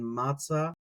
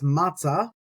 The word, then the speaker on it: מצא: Matzah, matches. Kind of a little bit of kind of a little bit of similarity in sound there. All right, I'm going to stop there, and that's matzah, means to find.